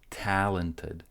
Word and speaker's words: talented: Talented. Stress goes on to the first syllable, so the remaining syllables are short.